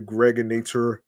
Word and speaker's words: Gregonator: I'm your man, aka the Gregonator. Rhymes with now or later.